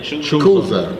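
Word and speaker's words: Chuza: Kuza. Kuza. CH is cut in Hebrew.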